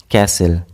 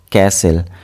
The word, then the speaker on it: castle: Here T will be silent. Castle. Castle. Here T is silent.